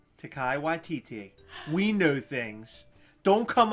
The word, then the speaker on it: Taika Waititi: How do you pronounce character. His name again? Taika Waititi. Taika Waititi.